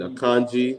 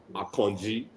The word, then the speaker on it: Akanji: last couple of games you know and then a kanji so I a lot of people I don't